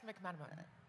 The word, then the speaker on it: McMenamin: McMa. What would you pronounced my last name right?